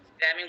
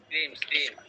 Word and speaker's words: screaming: ও স্ক্রিমিং মানে চিল্লানো, ওটা তো স্ক্র্যামিং বলতে হবে। স্ক্র্যামিং না স্যার, উচ্চারণটা স্ক্রিম। হুম।